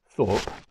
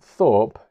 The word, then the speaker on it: Thorpe: But in Japanese, they don't have the TH sound. So Thorpe in Japanese sounds like soap. So the word soap in English and Thorpe, the name Thorpe, sound exactly the same in Japanese.